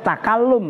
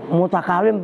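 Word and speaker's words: تَكَلُّم: Makanya takalum bacanya. Jangan itu mutakalim, Pak, kurang mim. Bukan, takalum.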